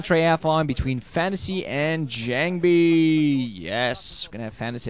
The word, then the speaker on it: JangBi: jangi or Jang B I used to call him Jang B back when I found out that that's actually the way you pronounce his name but I think Jang